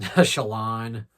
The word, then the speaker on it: Shallan: I loved Shallan, or not Shallan, Shallan. When I read the books initially without audiobooks, that's how I pronounced her name, is Shallan, but it's Shallan.